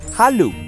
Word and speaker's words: Halu: Se pronunciaba Halu y significaba júbilo.